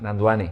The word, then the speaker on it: Nandwani: Efectivamente, la W como una U, Vale, Nanjuani. Nanjuani.